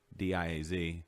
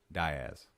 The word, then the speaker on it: Diaz: yes right in Arkansas there's a town di AZ pronounced die ass there you go boy